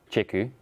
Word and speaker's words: chiku: touch on later awesome how'd you pronounce these carambola chiku yep anchor Anya I would have said seek you I won't lie to